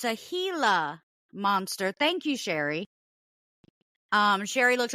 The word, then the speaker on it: Gila monster: It's a Gila monster. Thank you, Sherry. Sherry looked up the pronunciation, so it's pronounced Gila monster.